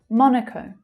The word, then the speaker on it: Monaco: Monaco, Monaco. So the first syllable is stressed and the second syllable relaxes to become the schwa.